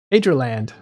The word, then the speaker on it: Adreland: Adreland.